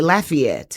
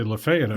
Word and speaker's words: Lafayette: Yeah, I learned that if you're from that area, you'll say Lafayette. Yeah. When I lived up in Oxford, they say Lefay up there.